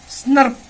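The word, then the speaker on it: snRNP: तो इसको प्रोनाउंस कैसे करोगे? स्नर्प, स्नर्प बोलोगे, तो इसको स्प्लाइसियोसोम्स को स्नर्प्स भी बोलते हैं।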